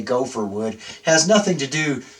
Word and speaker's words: gopher: So we're pronouncing the Hebrew word when we say gopher wood.